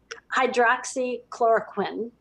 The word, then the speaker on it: hydroxychloroquine: I was going to ask you about how do you pronounce that? Hydroxychloroquine is the main one.